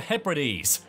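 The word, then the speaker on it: Hebrides: Shetland ory and the Hees the Hees are also further split into inner and outer Hees that's number 45 I didn't know that's how you pronounce that word you don't want to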